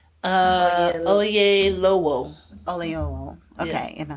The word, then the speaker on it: Oyelowo: Oyewelo. Oyelowo.